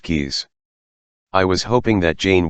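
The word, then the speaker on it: Caius: I applied for a research fellowship at Goneville and Caes College pronounced keys.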